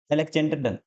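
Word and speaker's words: Alexander Dunn: आपको इनका नाम है एलेक्जेंडर डन एले एलेक्जेंडर स्पेलिंग पे मत जाना ठीक है एलेक्जेंडर डन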